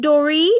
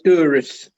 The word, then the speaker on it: Doris: incorrectly no it's okay is it pronounced dory or doris no it's doris doris terry doris